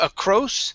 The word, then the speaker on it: across: one is across okay instead of a cross with an o it's an ah sound here across a grass all